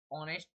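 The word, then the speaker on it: honest: अगर हमारा H silent होता है तो जब भी हम एन का ही प्रयोग यूज करते हैं, जैसे एन ऑनेस्ट मैन, यहाँ पर एच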